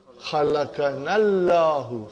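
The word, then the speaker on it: خلقنا الله: Khalaqanallahu. Khalaqanallahu. Khalaqana Allahu, and we'll pronounce it. We will read it as khalaqanallahu.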